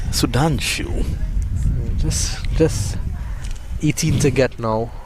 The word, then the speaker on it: Sudhanshu: Sudanshu. These guys have some exotic names. Sudanshu. Just 18 to get now. Rhymes with Vasu.